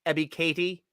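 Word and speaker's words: Ebiketie: a winner on that thank you kayla for correcting us ebby katie is how it's pronounced i appreciate the phonetic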